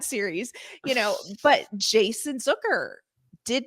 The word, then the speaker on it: Zucker: So for me, I think that's where we lost Jason Zucker. Rhymes with hooker.